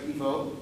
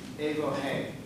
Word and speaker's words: Evohe: And the way you pronounce, it looks like Evo, but it's actually Evohe, is the way you would say it in Greek.